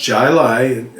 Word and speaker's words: Jai Alai: so uh this beer jai lai that's how it's pronounced and i've looked it up it's pronounced jilai actually that's what i get